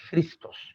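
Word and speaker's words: Χριστός: dando la definición dice christos viene del griego la pronunciación está ahí christos que significa la definición es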